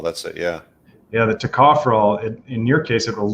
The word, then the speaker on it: tocopherol: Tocopherol, I think it's pronounced.